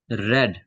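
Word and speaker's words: read: Many books are रेड, spelling वही रहेगी, बस प्रोनाउंसिएशन डिफरेंट हो जाता है।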